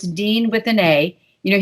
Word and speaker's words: Deana: name you know i why they think it's deanna i have no idea it's just dean and uh you know